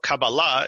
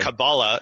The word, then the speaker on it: Kabbalah: Europeanized so not so Kabbalah is the way you'd say it in Hebrew but Kabbalah is how you would say it in Yiddish and that's the song